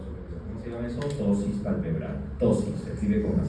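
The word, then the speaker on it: ptosis: Tosis palpebral. Tosis se escribe con pt o s i s.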